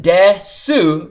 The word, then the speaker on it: desu: to the language are if a word ends in sue you don't actually pronounce the O you just go and the most common example you're going to see you this is the word desk sue so it's written death sue but it's pronounced deaths watashi no nami AOR